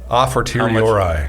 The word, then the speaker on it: a fortiori: It's the 80-40 argument. Yeah, Oh, A-for-Ti. A-for-T-I? Yeah. A fortiori, yes.